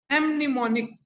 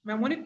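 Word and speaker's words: mnemonic: And last 3 star, एमनिमोनिक या मेमोनिक, मेमोनिक पढ़ोगे, N silent करोगे, मेमोनिक कोड, मेमोनिक कोड सबसे इंपॉर्टेंट है ये वाला।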